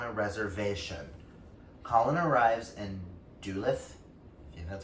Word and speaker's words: Duluth: and lives on a reservation colin arrives in duluth that's how you pronounce that town dude lives with his loyal